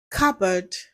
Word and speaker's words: cupboard: Letter P is silent in words like cupboard, raspberry, psychology, cool, sam.